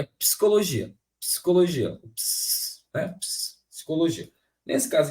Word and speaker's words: psicologia: a sílaba por exemplo na palavra psicologia é muito comum as pessoas separarem assim tem um tracinho aqui né Eh só que aí deixar esse P mudo gente pensa aqui comigo